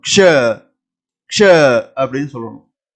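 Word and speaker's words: क्ष: இந்த எழுத்தை ஹிந்தியில நாம உச்சரிக்கும் போது க்ஷ க்ஷ அப்படின்னு சொல்லுவோம். அதாவது 2 எழுத்துக்கள் சேர்ந்திருக்குன்னு நான் ஆல்ரெடி சொல்லியிருக்கேன். பாருங்க, க்ஷ க்ஷ. தமிழ்ல உச்சரிப்பு பாருங்க. இங்கிலீஷ்ல தான் கொடுத்துருக்கேன், KSHA க்ஷ. ஷன்னு சொல்லக்கூடாது, கே சவுண்டோட சொல்லணும். க்ஷ க்ஷ அப்படின்னு சொல்லணும்.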